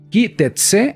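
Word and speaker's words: כי תצא: La porción se llama Ki Tetse, así es como se pronuncia en fonética, en nuestra fonética, así es como se escribe en hebreo.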